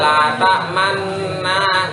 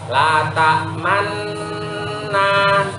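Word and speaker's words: لا تأمنا: Dibaca seperti biasa, la ta'manna, tidak boleh. Bagaimana cara membacanya? Yuk, lihat mulut saya. Bismillahirrahmanirrahim. Qalu ya abana malaka la ta'manna ala Yusuf. La ta'man. 1, 2, 3, buka. Nah, 1 man meringis, man mencucu, 2 meringis lagi, habis itu terbuka. La ta'manna, la ta'manna. Ya, harus bacanya seperti itu.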